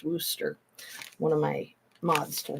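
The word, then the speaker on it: Worcester: Westchester to me but it's pronounced Wooster one of my mods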